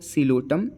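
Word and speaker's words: Psilotum: है तो यहां पे पी फॉर सि लोटम जो कि पी साइलेंट होता है एल फॉर लाइकोपस ई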